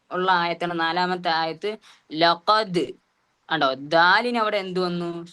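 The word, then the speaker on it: لقد: പക്ഷെ അതേപോലെ അവിടെ ദാലിന് സുക്കൂൻ വന്നപ്പോ ലഖദ് അവിടെ ലഖദ് എന്ന് നമ്മൾ ഉച്ചരിക്കുന്നത്. മറിച്ച് എങ്ങനെ? അവിടെ ദാലിന് സുക്കൂൻ ചെയ്യുമ്പോ ശബ്ദത്തിന് എന്ത് ചെയ്യണം? കുറച്ചും കൂടി ബാസ് പോലെ ഒരു മുഴക്കം എന്ന രൂപത്തിൽ എന്ത് ചെയ്യണം? ഉച്ചാരണത്തിൽ കൊണ്ടുവരിക. അപ്പോ ലഖദ്.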